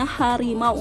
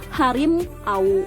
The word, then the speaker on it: harimau: Jadi bunyi A, U itu menjadi W, dan juga sama sepertinya harimau, enggak harim au ya. Jadi harimau bunyinya di W.